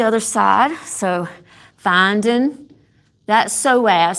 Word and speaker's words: psoas: So, finding that psoas. So, the psoas is spelled s p o a s. And the p is silent.